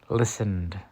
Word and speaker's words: listened: was a university student listened the E is silent I listened to the